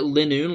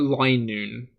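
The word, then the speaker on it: Linoone: Zig zagoon line so do you guys pronounce it Linux like I've been doing or do you pronounce it lie noon so I'm starting to think line noon is like the correct one because it's Zigzagoon into lion lion like Lion yeah I'm starting to feel like I'm pronouncing it wrong the only way to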